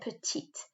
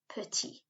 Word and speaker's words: petite: i would have said now i said petite not petty okay we'll come on